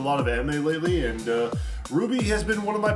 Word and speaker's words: RWBY: It's pronounced RWBY.